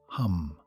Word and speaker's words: Ham: It's called ham, spelt H-A-M but pronounced hum.